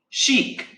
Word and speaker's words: chic: This is like a French word. It is, how to say it? Chic. You know? Chic.